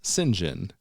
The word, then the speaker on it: St John: as would be expected it is one of a number of customary pronunciations in British names there is no Rhyme